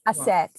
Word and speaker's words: Aset: I keep saying Aset. Yes, but it's spelled A-S-T.